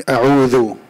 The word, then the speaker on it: أعوذ: In a'udhu, isti'adha, I didn't hear harf al-dhal. A'udhu, you see that?